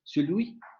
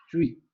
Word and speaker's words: celui: En palabras como esta, la vocal no es omitida en lengua formal, diríamos celui, aunque en una pronunciación familiar se pronuncia sui, sui.